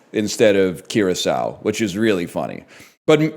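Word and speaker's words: Kraków: had no idea how to pronounce it and just got lucky. But then he did say Carco instead of Kiraau, which is really funny.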